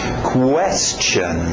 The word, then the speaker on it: question: continuando skirt skirt skirt question cuidado com esse u português temos questão vai querer dizer question tem que entrar no question question continuando trck Truck